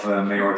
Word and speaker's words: Mehar: I'm the co-founder and CEO of Mehar Technologies. The pronunciation Mehar is also allowed.